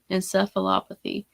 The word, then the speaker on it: encephalopathy: And so that was something that I kind of wanted to talk about, was chronic traumatic encephalopathy, which I said it right. Yay. I always mess that word up. Encephalopathy.